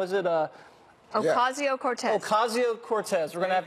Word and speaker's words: Ocasio-Cortez: I can't pronounce her last name. How is it? Ocasio-Cortez.